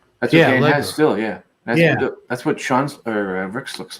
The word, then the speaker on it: Sean: he wanted to be, because my name is Sean, please pronounce it Sean.